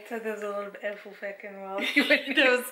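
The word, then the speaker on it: Ecclefechan: screen, but from what I understand, it's called Ekelfecken, and it sounds really rude because these mitts actually cause me a lot of grief, and it's mainly because they're... So there's a lot of Ekelfecken while you were...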